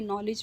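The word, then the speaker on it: knowledge: words जो होते हैं जिस तरह से नॉलेज में के जो है वह साइलेंट है वह साइलेंट प्रोनाउंस नहीं करते ठीक है ना के नॉलेज कह देते हैं फिर स्पेलिंग मिस्टेक्स हो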